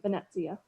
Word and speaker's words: Venezia: I think it's Shannon Venezia. Is that correct? With a hard TZ, Venezia.